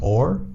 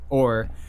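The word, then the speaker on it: Aaor: I think it's pronounced Or. A-O-R.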